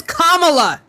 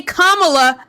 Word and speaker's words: Kamala: It is not tomato. Her name is Kamala. If you do not say Kamala, I'm kicking you from the live.